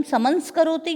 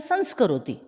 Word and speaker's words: संस्करोति: अध्यापकः छात्रान् संस्करोति, यहाँ पर यदि हम इस उपसर्ग के साथ बोलेंगे तो बोलेंगे हम समंस्करोति या संस्करोति, इसका सही उच्चारण होगा संस्करोति।